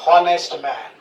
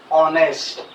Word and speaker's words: honest: Here also, in honest man, we do not pronounce it as honest man. How do we pronounce it? We pronounce it as honest.